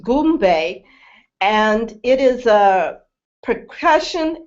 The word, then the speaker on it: Goombay: So Goombay is G-U-M-B-A, and is pronounced Goombay, and it is a